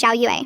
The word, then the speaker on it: Xiao: My English teacher kept calling me X even though my name is Xiao.